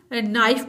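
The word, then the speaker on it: knife: एन आई एफ ई नाइफ इसको भी हम नाइफ पढ़ते हैं के को नहीं पढ़ते इस तरह से नूब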